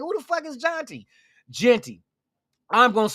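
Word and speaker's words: Jeanty: Matter of fact, let's get into the Genty discussion. I said Genty. Jonty. His name is pronounced Jonty.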